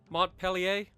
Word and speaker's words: Montpelier: We know Cleveland, so let's go Montpelier. Or Montpelier, depending on who you talk to. Montpellier. I know that's the other way. That's probably how it's pronounced.